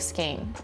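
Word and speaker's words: skein: Scain pronounced like skain. Scain rhymes with cocaine.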